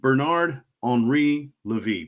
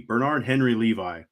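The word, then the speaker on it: Bernard-Henri Lévy: There's a guy named Bernard Henri Levy, Bernard Henry Levi, in more white guy English pronunciation. Bernard Henri Levy, and he's this gentleman of a certain age.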